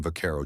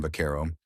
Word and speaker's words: vaquero: In Spanish, the V in vaquero is pronounced closer to a B sound, which made it easy for non-Spanish speakers to mishear and reshape the word.